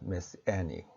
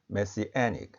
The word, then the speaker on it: Messianic: 메시애닉. 철자를 확인해 보시고 메시애닉의 강세가 있습니다. 제1강세가 에에 있고 제2강세가 첫 번째 음절 메에 있습니다. Messianic, Messianic, Messiah, Messianic입니다.